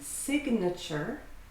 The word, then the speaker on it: signature: And notice the verb to sign has a silent G, but if it's a noun, signature, then you pronounce the G.